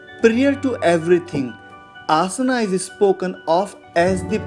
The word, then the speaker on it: asana: In English, in general, we always say asana, but basically it is asan. It is a Sanskrit term and pronounced as asan, commonly known as sitting position.